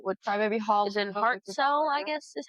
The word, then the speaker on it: Hartselle: Crybaby Hollow, which Crybaby Hall is in Hartselle, I guess is how you say it. Hartselle, Alabama. Hartsville? Hartselle. It has an S in it.